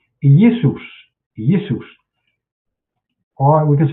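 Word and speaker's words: Ἰησοῦς: So this is how we correctly pronounce itus. Yesus or we can say Jesus or we can say Jesus.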